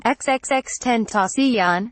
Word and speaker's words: XXXTentacion: investigators also told him the 20 year old rapper who pronounced his stage name xxx 10th osteon had visited a bank